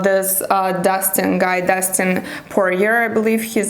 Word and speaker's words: Poirier: said that about this uh dustin guy destin poor year i believe his name is the way his name is pronounced and i think that that i i